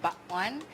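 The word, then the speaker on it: bakwan: about this one um this one's called the bat one it's like it's spelled b a w n but it's pronounced B one and then it's similar to Filipino ooy but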